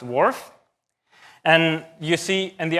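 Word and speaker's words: WRF: can be used for climate and it is pronounced wharf and you see in the upper right-hand side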